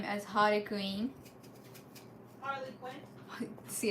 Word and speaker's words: Harley Quinn: ever saying her name right in Japanese we pronounce her name as hary Queen Harley Quinn see it's so different yeah Harley Quinn and did Gotham have her no well